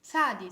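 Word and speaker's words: צדי: um a bird so you have to make a combination between the t sound and the s sound and also this sound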